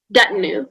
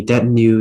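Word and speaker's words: detinue: you say the word one more time or that new yeah okay um can i have the language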